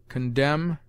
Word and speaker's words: condemn: sound as Noble manners n is sometimes mute after M as dam condemn him p p has